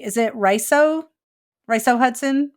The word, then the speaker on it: Riso: development is um I don't know if I'm pronouncing the first name correctly is it Riso rice oh Hudson Riso Hudson okay I've only ever seen it in